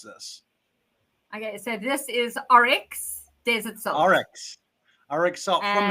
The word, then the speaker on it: Oryx: And I'm going to butcher it again, so I want you to tell everybody how you pronounce this. Okay, so this is Oryx Desert Salt.